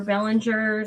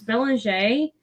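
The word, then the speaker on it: Belanger: bell and jay or bellinger sometimes people it's bellanger it's spelled like bellinger and she's on facebook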